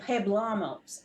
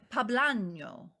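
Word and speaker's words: poblano: jalapeno pea jalapenos and pebblemose i can't say it right pablano oh you say that so much better than i do that's that's yeah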